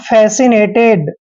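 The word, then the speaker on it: fascinated: ठीक है और देखिए यहां पर ईडी का उच्चारण ड लिखेंगे ठीक है ना फेसिनेटेड ऐसे फैसी नेटेड अब यहां पर ई को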